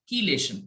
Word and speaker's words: chelation: want to pronounce it i think it's pronounced as chelation like the h is silent okay it's called chelation okay right so key